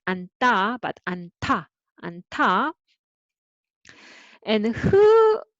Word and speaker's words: 않다: So we have 5 aspirated consonant, and when hu is involved, then this first syllable you read with the first one, an, and then hu meets with d. So who meets with do. Do is soft and has aspirated version. So who makes this sound aspirated? So it will become anta.